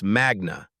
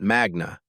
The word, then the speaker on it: magna: You said magna cum laude from Harvard Law in your introduction, but you pronounced magna wrong. It's magna, not magna. Latin stress patterns fall on the penultimate syllable when it contains a long vowel.